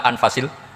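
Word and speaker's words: أنفس: Di sini ditulis anfusil kutub. Kalau saya baca anfasil kutub karena maknanya kitab terbaik. Kalau kitab terbaik bacanya bukan anfus tapi apa? Anfas.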